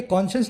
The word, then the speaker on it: conscience: दोनों का प्रोनाउंसिएशन भी सेम है ऑलमोस्ट। ये है कॉन्शियस, एक एडजेक्टिव है। ये है कॉन्शियंस, ये एक नाउन है। कॉन्शियस, कॉन्शियंस, ठीक है।